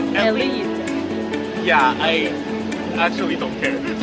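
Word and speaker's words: Eslite: I know there's an S. Alright, so if you want to pronounce it as Eclipse, it's also okay. But people say that it's from ancient French, so you should pronounce it as Elite.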